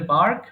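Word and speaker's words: bark: ঘেউ ঘেউ করছে তাহলে বার্ক বার্কড বার্কড এটা কিন্তু বার্ড হবে না উচ্চারণ হবে বার্ক বার্ড বার্ড এরপর বলেন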